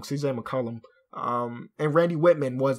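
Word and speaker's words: McCollum: the Year Mo improved is still CJ M McCullum I always say his name wrong CJ McCullum um and Randy Whitman was the coach of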